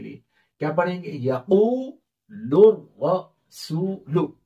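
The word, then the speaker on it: يقول الرسول: या जबर या, कौफ वाव पेश, कू कौन सा मद होगा? वाव मद्दा, वाव साकिन से पहले पेश है। और लाम रा पेश, लुर, रा जबर रा, क्या बना? लुर। सीन वाव पेश, सू, यक़ूलुर रसू, लाम पेश लु, यक़ूलुर रसूलु।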